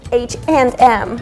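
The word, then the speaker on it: H&M: is like it's not like this you should pronounce it H and M if you pronounce it like fully English that's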